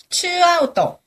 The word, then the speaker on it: ツーアウト: 큐까이라우또네 큐까이우라 구해 말이라는 걸 우라 추아웃또 투하는 거를 츠라고 발음을 하죠 소데스네 발음 이거 한국 사람 안 될 사람 되게 많아요 그죠 네네 추 아웃